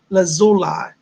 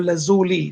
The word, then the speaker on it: lazuli: blue lapis or it's called lapis lazula or lazuli depends on how you pronounce it that's opening your third